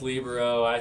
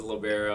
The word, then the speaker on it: libero: yeah i don't wanna i think it's pronounced libro everybody says libero it's american i don't want